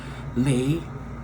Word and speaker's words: Lei: My name is Leilani, or Lei for short, pronounced Lei like Frito-Lay's potato chip company.